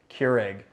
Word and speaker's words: Keurig: company owned by Keurig I pronounced it right that time guys Keurig I said query again everyone was like how